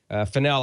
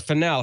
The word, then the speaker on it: Fennell: ahead and pull Fel I I think I mispronounced your name in the newsline piece and I'm sorry about that it's finel how are you it's